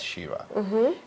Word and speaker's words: Chira: Shir c h i r e but the pronunciation is Shira and on Twitter is Shore Shira all right